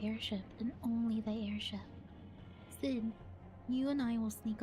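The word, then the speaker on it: Cid: Sid, I always forget, it's pronounced Sid, not Seed.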